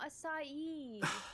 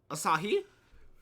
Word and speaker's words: Asahi: but like it's asaki no no it's not acai where do you get that h from that